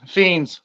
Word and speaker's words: Phenes: one first that's all right it's it's fiend fiends you're close you're close close yeah good enough